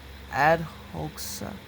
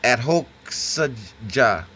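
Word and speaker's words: adhokṣaja: He is described herein as adhoksa. Yeah, adhoksaja. Yeah. It's ADHOKSAJA, brother Peace. That's okay, brother. You pronounce it close enough. That's close enough. Adhoksaja, something like that.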